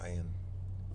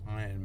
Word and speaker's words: Ayin: Ayin. Ayin means I. It's a silent letter, right?